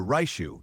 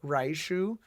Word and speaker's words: 来週: Like when you're speaking Japanese, the R is kind of like an RL mix. So he's always going to pronounce that very American R, raishu, which like you could take it for what it's worth.